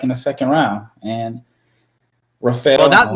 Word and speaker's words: Rafael: Not Raphael Stone, Rafael. Yeah, Stone. Even though our names are spelled the same, it's just pronounced different.